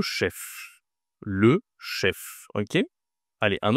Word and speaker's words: chef: En gros, est-ce que je dis le che ? C'est masculin. D'accord. Le che ou le chef ? Qu'est-ce que tu penses ? Ici, je dois prononcer le F. C'est le chef.